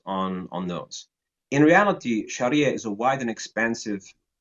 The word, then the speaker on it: Sharia: no such thing as Sharia law Sharia is a wide and expans yeah because that's how it's spelled It's s h a r i a Sharia not not not